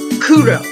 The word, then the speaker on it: Kuro: So, how to pronounce my character's name will be Kuro, as in Kuro as cross, pro, you know, something like that.